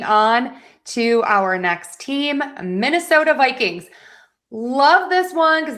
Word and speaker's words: Minnesota: Minnesota. Minnesota. And yes, I wrote that with a D. Technically, it's the flap T for the ending there. And the reason is is that T is between two vowels.